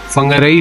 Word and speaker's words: Whangārei: तो जो आई होता है इसको हम ई पढ़ते हैं, तो ओ तो हाउ फंगराई false, that's the name of this false.